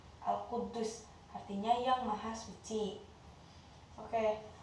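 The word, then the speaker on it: القدوس: Di sini ada tasdid, cara membacanya adalah Al-Quddus ya. Al-Quddus artinya yang maha suci.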